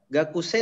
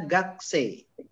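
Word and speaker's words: 学生: ehwa gakse gakuse ya gakuse Tapi bacanya gakse Ya Kuya enggak usah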